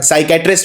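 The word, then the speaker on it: psychiatrist: और साइकेट्रिस्ट में ये सबसे कॉमन स्पेलिंग है जो एग्जाम में आती है, क्योंकि इसमें P साइलेंट होता है। क्योंकि साइकेट्रिस्ट जब हम बोलते हैं तो साई, P नहीं, P का उच्चारण नहीं किया जाता।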